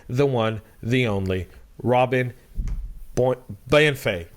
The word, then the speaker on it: Bienfait: Joining me today, the one, the only, Robin Bienfait. Did I say it right this time? Bienfait. Well done. Bienfait.